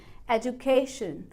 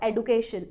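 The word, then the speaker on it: education: तो प्रोनाउंसिएशन हो गई एजुकेशन, एजुकेशन, ना कि एजुकेशन। और एडुकेशन, एडुकेशन काफ़ी लोग प्रोनाउंस करते हैं, वो बस एक मेड अप प्रोनाउंसिएशन है, फैंसी प्रोनाउंसिएशन है। बुक्स के अकॉर्डिंग एडुकेशन कोई रूल नहीं है।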